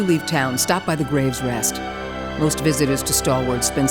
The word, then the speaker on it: Grave's Rest: Oh, it's pronounced Graves Rest. I was calling it Gruff's Rest.